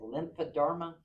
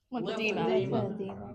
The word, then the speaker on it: lymphedema: And whoever said this, if you can correct me, is it lymphoderma? Lymphedema. There you go. Say it again. Lymphedema.